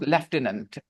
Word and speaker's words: Lieutenant: in the group about the word Lieutenant you know that why it is pronounced leant okay yes you can